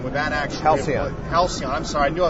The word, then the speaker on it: Halcyon: But would the home, the Halcon, would that actually Halcyon? I'm sorry, I knew I was going to pronounce it wrong.